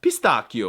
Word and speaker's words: pistacchio: I mean, it's pistachio in American, but I think it's pistacchio or something. And Italian names. Yeah, by a rule of thumb, the ch sound is the equivalent of a K.